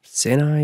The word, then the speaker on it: Sinai: you have him talking to god on mount sinai senai if you prefer the pronunciation when he receives the tablets he talks